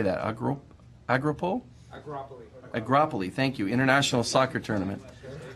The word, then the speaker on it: Agropoli: complete in the, how do you say that, Agropoli, thank you, International Soccer Tournament. Agropoli, International Soccer Tournament.